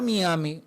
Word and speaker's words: Miami: crédito que la palabra Miami, el nombre de esa ciudad del estado de Florida, esa palabra por su origen es Miami. Como los gringos no saben decir Miami, dicen Miami. Miami.